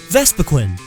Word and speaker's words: Vespiquen: Vespiquen. There is only one E. I know it's weird, but it's definitely not Vespiquen.